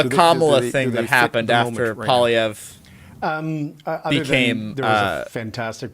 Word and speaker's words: Poilievre: bit after Poilievre we've all sort of settled on Poilievre. But after he got elected, where you watched people sort of like struggling to find a consensus on how we were all going to pronounce it, because there was some Polyvers. I think Greg McEachran, he does this guy right here. He still says Polyver a bunch.